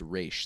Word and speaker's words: Ra's al Ghul: of a sudden Talia goes, "Well, it's actually pronounced Raish.